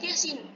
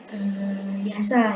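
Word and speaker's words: يس: Kemudian surat Yasin. Yasin. Nah, pada huruf ya-nya ini ada harokat berdiri, namanya mad tabii harfi. Dia bacanya per huruf, bukan yasa ya, tapi dia dibacanya yasin. Atau ini juga bukan dibaca hama, tapi hamim.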